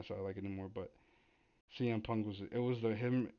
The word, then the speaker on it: CM Punk: like, oh, his name's CM Punk. I used to call him Sim Punk or Sim Punk because I thought that was his name, and then I started to learn it CM Punk.